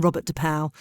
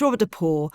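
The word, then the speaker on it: Robert de Pauw: just the fact that this is not how his name is pronounced because I've been calling him Robert depal and that's not how his name's pronounced it's Robert depor and that just ruins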